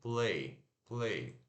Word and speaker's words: play: Como se fosse play, mas se pronuncia P-L-E e curto. L-E-I. Play. Play.